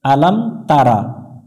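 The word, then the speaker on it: ألم تر: জবর লাম আলাম আলাম এগুলো হরকত দ্রুত উচ্চারণ করতে হবে টান দিয়ে পড়া যাবে না আলাম তা জবর তা র জবর র তার আলাম তার এখানে অনেক জন্য যে ভুলটা করে আলাম তারা এটা রা পড়া যাবে না র পড়তে হবে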